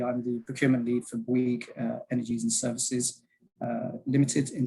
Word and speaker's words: Bouygues: So we are Bouygues, and it's spelled B-W-E-E-G as if you were pronouncing it.